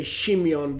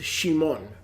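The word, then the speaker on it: שמעון: Because of the rabbis, we tend to say Shimeon, but it's not Shimeon. It's Shimon.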